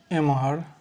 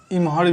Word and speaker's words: एम्हर: इधर को मैथिली में एम्हर, उधर को उम्हर, किधर को केम्हर, जिधर को जेम्हर, इधर उधर को एम्हर उम्हर। ठीक है, इसमें एम्हर को जो है वो इम्हर भी बोला जाता है।